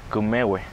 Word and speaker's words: Kvmewe: Today, this area is known as ‘El Comahue’… …which we pronounce ‘Kvmewe’… …meaning ‘the good place’.